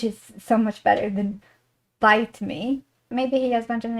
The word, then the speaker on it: biteme: I was interested in this strange word like bite bite bite bite and then Google eventually delivered that it it's pronounced bite me and it's an invention of Jordans like for